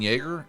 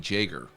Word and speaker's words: Jaeger: off in part two i've been pronouncing his name shane yeager turns out it's pronounced shane jaeger per this document jason johnswood